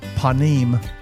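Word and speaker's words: פנים: There's a Hebrew word in the Bible pronounced panimm.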